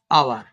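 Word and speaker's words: hour: Number 4, I waited at the station for dash আওয়ার। এখানে আওয়ার, এইটা মানে উজ্জ্ব আছে, হ্যাঁ, উচ্চারণ করা হয় না, এখান থেকে শুরু করা হয় ও ইউ আর, আওয়ার।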